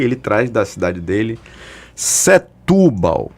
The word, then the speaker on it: Setúbal: E aí ele traz da cidade dele Setúbal. A pronúncia é Setúbal, que eu vi hoje Setúbal, é Setúbal, em Portugal, pelo amor de Deus.